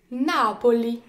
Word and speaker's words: Napoli: Les mots accentués sur l'avant-avant-dernière syllabe, ils sont appelés les parole sdrucciole. Napoli.